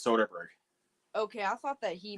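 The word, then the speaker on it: Soderbergh: Soderberg he definitely it's it's spelled wrong but it is Soderberg okay I thought that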